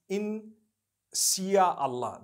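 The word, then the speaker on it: Insya Allah: If you look at, you know, the Malay language, they write in Sia Allah, the S-Y-A. They pronounce the S-Y the way we pronounce S-H.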